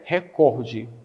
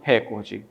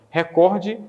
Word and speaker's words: recorde: Como não tem acento, a pronúncia adequada, ou seja, a prosódia da palavra é recorde e não recorde. Então, fique-se sabendo dessa forma. Recorde e não recorde é a pronúncia adequada.